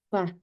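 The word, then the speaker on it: ف: 이건 영어에 우리나라 말은 없지만 영어의 F 발음이에요. 그래서 이를 살짝 아랫입술을 깨무시면서 발음을 주시면 돼요. 파, 파. 그래서 feel 하면은 코끼리가 되죠. feel. 코끼리가 feel이에요. 알아보나. F. F 발음이에요. 파.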